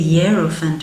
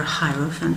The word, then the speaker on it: Hierophant: 6 of Wands, the 7 of Swords, the 2 of Cups, the Empress, nice, the Hierophant or Hierophant, whichever way you want to pronounce it, the Sun, baby, look at that,